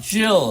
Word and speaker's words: Gil: How do you say Gil? Jill. Is it Jill? Jill.